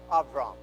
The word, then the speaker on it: Avram: by the name of Avram, all right? Because V and B is the same letter in Hebrew. All right? or can be pronounced in the same way depending how it's used.